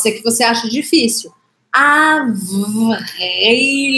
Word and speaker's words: avril: O próximo, avril. Avril. Mais uma vez, eu faço vibrar V, que é no lábio, e R aqui no meio. Pode ser que você ache difícil. Avril.